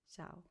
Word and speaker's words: Xiao: Xiao.